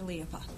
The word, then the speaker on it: Liapa: I corrected this pronunciation of his name. That's all I did. His name is Dr. Liapa.